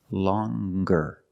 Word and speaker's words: longer: but then you have longer where we have the hard G sound longer with a nasal sound